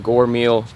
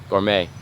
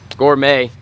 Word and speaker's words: gourmet: they're gonna eat today we're I'm a full-on Gor meal is that how you say it for me gourmet gourmet salad and it's gonna be pretty dope so